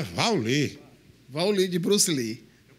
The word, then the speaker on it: Wally: É Vauli. Ah, é Vauli.